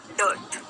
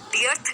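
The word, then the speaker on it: dearth: डियर प्यारा, डियर प्यारा, डर्थ, डर्थ, डर्थ, डर्थ कमी, डियर्थ नहीं है, डियर्थ नहीं है, डर्थ, डर्थ, ठीक है।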